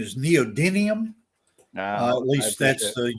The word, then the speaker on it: neodymium: you as in my class too the correct pronunciation is neodymium uh at least that's the u.s production pronunciation